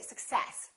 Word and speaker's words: success: so in this case we stress the second part and we say success I wish you success